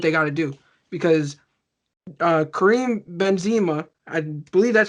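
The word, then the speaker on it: Karim Benzema: and do what they got to do, because Kareem Benzema, I believe that's how you say his name.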